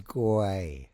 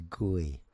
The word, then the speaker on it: Guay: It is guay. So you could maybe use the tech term gui. Uh how they pronounce it as gui.